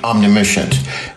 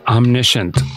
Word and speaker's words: omniscient: beyond qualified I think omnicient it's pronounced omniscient Einstein can you believe this guy has 2.